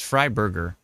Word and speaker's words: Fryberger: let's see here fry yeah it's fry Burger so if you uh search Evan e v an f r y b r g r that is Evan fryberger um I don't know